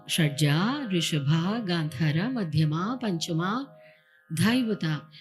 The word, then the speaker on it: Shadja: Shadja, Rishabha, Gandhara, Madhyama, Panchama, Dhaivata, Nishada. And we also say Shadjam, Rishabham, but preferably, I would request leave the akara open there.